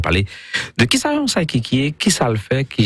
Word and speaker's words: psychique: Un psychic, c'est un mot anglais, mon yo toujours tendé, mais si on dit prononciation française, on dit psychique.